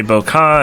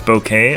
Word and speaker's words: Bokeh: studio establishes bokeh like nobody knows how to pronounce this query because i've heard some people say boca and some people say bouquet because no no no no no no no but it's bouquet okay yeah it's it's kind of a photography